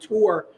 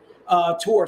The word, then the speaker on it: Tor: It is basically Hellchild coming up against one of her arch nemesis, one of these characters named Tor, T-O-R, and I'll spell that for you.